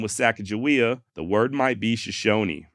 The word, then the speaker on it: Sacagawea: On May 20th, 1805, Lewis wrote, SAH space CAGAH space WE space AH. Okay? Sacagawea.